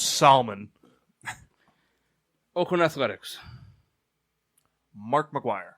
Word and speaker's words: Salmon: It's pronounced Salmon.